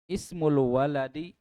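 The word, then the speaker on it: اسم الولد: pertemuan yang lalu Ismun Perhatikan cara bacanya ismul waladi jadi penekanannya di sini pada Hamzah wasalnya Syarah membaca Hamzah wasal ismul waladi Muhammadun nama anak itu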